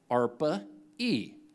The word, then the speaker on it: ARPA-E: is an agency called arpa-e for Advanced Research Projects Agency energy and ARPA rhymes with darpa okay which is the